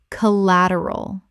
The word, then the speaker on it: collateral: arbitration arbitration Word 161, collateral common mispronunciation collateral Correct pronunciation, collateral Four syllables with the stress on the second.